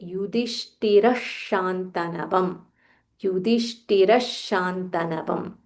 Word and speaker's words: युधिष्ठिर: इज़ अ विसर्ग here युधिष्ठिर युधिष्ठिर ध महाप्राण थ महाप्राण युधिष्ठिर शानवम शानवम so when there is अ विसर्ग फॉललोड बाय श वी जॉइन टुगेदर एंड से युधिष्ठिर शनवम युधिष्ठिर शंतनवम द